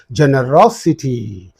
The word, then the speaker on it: generosity: syllable preceding the suff so the stress is now used on this so you have to say generosity similarly curiosity is there